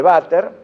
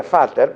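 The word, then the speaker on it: Vater: bueno esa ampolla de váter así se llama el nombre propio es como de corta edad se pronuncia fighter pero digamos váter como dice todo el mundo desemboca por una pila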